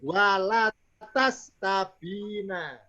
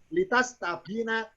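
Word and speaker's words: لِتَسْتَبِينَ: Berikutnya saya baca walatas tabina. Kalau dibaca la salah. Benar apa? Li. Sabina. Walid. Supaya kamu Sabilal mujrimin. artinya litas tabina, supaya kamu minta penjelasan yang jelas atau keterangan yang jelas.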